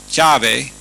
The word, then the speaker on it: Yahvé: Entonces nosotros encontramos ahí en Éxodo 3:14 que ese nombre de Dios, YHWH, que nosotros pronunciamos Yahvé, que a veces se deletrea YAHBEH, simplemente para pronunciar ese nombre de Dios.